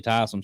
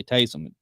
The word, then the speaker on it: Taysom: tyson hill taysom hill however you want to pronounce his first name some people say tyson some pieces people say taste them that bill's defense is